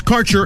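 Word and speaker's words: Kaercher: cannabis Insurance Services is spelled k a e r c h e r that's carer insurance we have worked with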